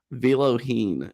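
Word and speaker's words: Vellojin: Before we get to that, Daniel Viloheen is how it's pronounced, I believe.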